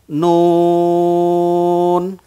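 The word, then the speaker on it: نون: প্রিয় দর্শক, অনেকেই এই হরফটিকে নু বলেন। আসলে নু বলে কোনো হরফ নাই, মূলত নুন।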